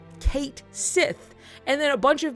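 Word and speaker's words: Cait Sith: is spoken and that's it's like a Celtic word it's a whole like that's what he's based on and then like in English they made some post and they were like It's pronounced Kate Sith and then a bunch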